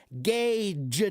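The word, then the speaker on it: gauge: Uh, Gage is not pronounced as gay seeker. Listen. Gage J.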